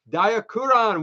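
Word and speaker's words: Daiakuron: and gentlemen is B dayakuran which is of course apparently based on the pronunciation of diphone in Japan I'm sure it's not the same thing and I'm sure I'm butchering it but um yeah d-a-i-a-k-u-r-o-n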